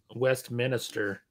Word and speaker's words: Westminster: It's like people who pronounce Westminster. It's like there's only one I in that word, idiots.